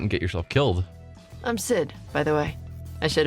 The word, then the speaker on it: Xid: I'm Sid, by the way. I should have introduced myself before. Nice to meet you officially, Sid. Although... Okay, so they're pronouncing the X more like an S, just Sid.